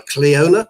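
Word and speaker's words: Clíona: to professor traynor kerwin i say cleaner because it's an irish name and that's why it's not normally pronounced but uh she says everybody here will call her cleona so fine cleona cohen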